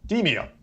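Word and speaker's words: Demeo: Demio, which is a fantastic game.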